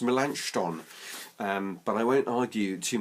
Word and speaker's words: Melanchthon: Reformation thing might Gabe melanchthon I think is pronounced mélenchon but I won't argue